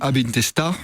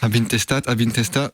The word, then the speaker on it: Ab Intestat: C'était Post Hell, extrait de l'album Abintesta, puisqu'on est puriste de la langue, on prononce pas le T. Abintesta du groupe Violence Mortuaire.